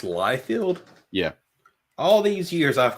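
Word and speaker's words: Liefeld: I bought that that's awesome yeah so it's pronounced liefield yeah all these years I've called him Lee field yeah it's light field life failed instead of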